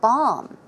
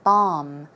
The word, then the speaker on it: balm: There is an L, however, it is not pronounced. The L is silent, so it should be pronounced as a B-A-H-M, a long ah sound, balm, balm, okay?